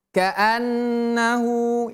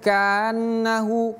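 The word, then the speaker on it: كأنه: Kaannahu. Ingat huruf nun tadi. Tahan lepas. Tahan lepas. Kaannahu. Ini huruf A. Harus jelas kita bacanya. Ka jangan kita baca kanannahu. Kanahu keliru. Tapi kaannahu ini H-nya H besar.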